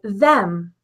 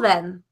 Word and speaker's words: them: English that end with an eem especially like them they often pronounce it then so I'll call then and it's like wait I'll call then or